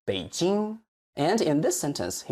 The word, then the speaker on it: 北京: And Beijing, it should be 北京. Remember, native Chinese tend to stress the last syllable of a word, like 北京.